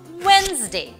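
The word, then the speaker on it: Wednesday: strong একটা sound but ডিও কিন্তু অনেক ক্ষেত্রে সাইলেন্ট হতে পারে যেমন খেয়াল করে দেখেন স্যান্ডউইচ হ্যান্ডসাম ওয়েন্সডে এই সকল ক্ষেত্রে আমরা কিন্তু ডিটাকে প্রোনাউন্স করছি না আরও কিছু এক্সাম্পল আছে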